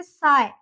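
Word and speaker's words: sigh: देखिए जैसे साय, उसको सिग या साई नहीं, उसको हम बोलेंगे साय।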